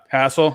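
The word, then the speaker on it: Hassell: length or not Robert Hazell Robert Hazell yeah hassle yeah that's who I had going to the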